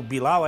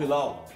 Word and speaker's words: Hilal: Não quero voltar pro Bilal aí, né? Ao Bilal? Ao Bilal. Ao Hilal.